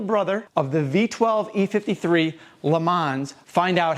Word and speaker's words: Le Mans: The LeMans, pronounced LeMans, is arguably the most unique BMW ever produced.